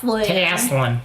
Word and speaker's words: Taslin: Taslin. Taslin be wrastling. Like wrestling.